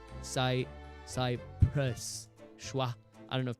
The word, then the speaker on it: Cyprus: It does just say Cyprus. It's a schwa sound. Cyprus. Schwa. I don't know if people know schwa, but it's a the sound. Cyprus.